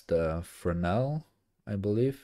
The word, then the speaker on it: Fresnel: And I always said it's Fresnel because there's, I believe, S in there, but as far as I learned quite recently, it's Fresnel. Like you don't pronounce the S. The S is silent.